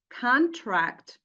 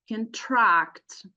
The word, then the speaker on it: contract: between two parties however if we stress the second syllable contract so in this case it will be a verb uh referring to an action and meaning uh to make something short so two different uses